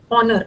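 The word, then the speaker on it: honour: Elevate and ऑनर ऑनर ऑनर में एन लगेगा। ऑनर में एन ही लगेगा क्योंकि एच साइलेंट होता है।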